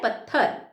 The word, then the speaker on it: पत्थर: ठीक है, पत्थर, अब कुछ लोग बोलते हैं पत्थर, गलत है बच्चों। त आधा आता है, इसलिए हम क्या बोलते हैं? पत्थर।